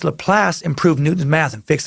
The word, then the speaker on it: Laplace: Another quick pronunciation update from Juan Ramirez, who writes, "Dear Socrates, Laplace is a French name, so it's pronounced Laplace. I almost said Laplace again.